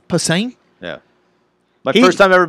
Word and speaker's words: Posehn: he was Posner? really rad, Or yeah. what's his? How do you say his name? Posehn.